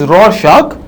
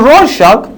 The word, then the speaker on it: Rorschach: His name is Rorschach, and Rorschach is pronounced by R-O-R-S-C-H-A-C-H, and this is a famous ink blot test of the Rorschach test.